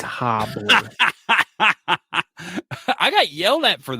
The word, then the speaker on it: Hibbler: And you mispronounced it. It's Hobbler.